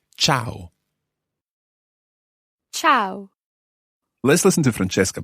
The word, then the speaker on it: ciao: of this word quite often people think it's ciao almost as if it's spelled c h or w but it's not it's ciao ciao let's listen to francesca pronounce this word ciao ciao now the interesting thing about this word